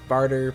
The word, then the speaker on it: Bartre: of spring bar trade I've heard the pronunciation of barter but the voice line say it in two syllables so I'm gonna go with that part right here is